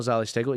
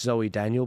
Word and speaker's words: Zoe Daniel: terms of the panel sorry I said Z stel it's not Z stegle it's Zoe Daniel but all these teals